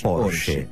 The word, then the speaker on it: Porsche: Es alemán y se pronuncia Porsche.